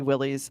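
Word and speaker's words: Willys: pronounce the Willy's Jeep some people say it should be Willis some people say it should be Willy's well gee officials at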